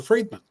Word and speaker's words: Friedman: very happy to be here and it's fredman fredman okay I didn't know on the pronunciation I should have asked that before we